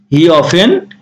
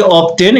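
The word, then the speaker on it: often: এটা আবার উচ্চারণ করে না যে অফটেন, এটা অফেন উচ্চারণ হবে।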